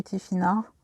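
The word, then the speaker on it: Tifinagh: Le tifinag, GH se prononce R, non roulé, les tifinars, qui veut dire notre découverte.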